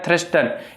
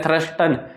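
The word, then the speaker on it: Thurstone: थोड़ा सा जटिल है, थ्रस्टन। यानी किसी से तो उच्चारण ही नहीं होता। थ आधा, सॉरी थ तो पूरा, स आधा, र पूरा, और ये टर्न।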